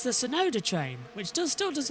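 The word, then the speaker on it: Tsunoda: from Fernandez it's the sonoda train which does still does work as TT because it's t soda sonod the te is silent botas trying to have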